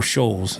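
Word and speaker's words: Scholz: Tom Schultz did all that or Scholes is how you say his name.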